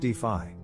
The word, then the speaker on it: DeFi: decentralized Finance is also known as defi pronounced defi it is the umbrella